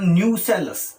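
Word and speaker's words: nucellus: ये न्यूक्लियस नहीं है, ध्यान से समझ लीजिए, स्पेलिंग भी ढंग से देखना। These are नॉट न्यूक्लियस, these are न्यूसेलस।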